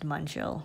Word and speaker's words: Uncial: If you're eating, it's pronounced Uncial.